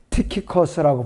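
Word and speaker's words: Tychicus: 그 신약에도 투기고라고 우리가 번역해 놓은 거 있잖아요. 그런 것은 티키커스라고 발음을 해요. 영어 킹제임스 성경으로.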